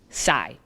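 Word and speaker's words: psi: here's the real one the next letter is pronounced sai but when you spell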